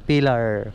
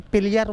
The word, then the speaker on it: Pilar: Our Lady of the Pillar Paris Church. Pillar oo Pillar siguro to. Pillar. Morning sir. Sir taga dito kay Santa Maria sir pronunciation na sir pilar pilar pilar sir.